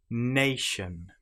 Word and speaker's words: nation: Nation, lotion, potion. You will notice that the TI here is pronounced exactly the same as the sh sound.